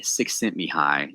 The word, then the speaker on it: Csikszentmihalyi: And this is from Mihai Csikszentmihalyi, is how you say that dude's name.